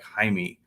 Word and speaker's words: Jaime: And I'm like, "It's spelled Jamie, but it's like Jaime."